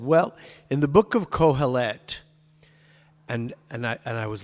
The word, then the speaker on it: Kohelet: And Kohelet, normally a three-syllable word, normally would, like Avraham, would always be on the third syllable in Hebrew, except when it's a segolate, like the word for kingdom, mamlechet. Anyway, so I like cringed when I heard that.